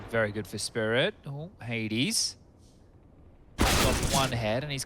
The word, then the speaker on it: Hades: And in the language that we expression, it is pronounced Hades. And I messaged him and I said, is that fine? Is that cool? And he said, yeah, sounds good. So Hades it is. As opposed to pronouncing it like Hades, which I'm sure English people pronouncing it like we were Polish would be weird.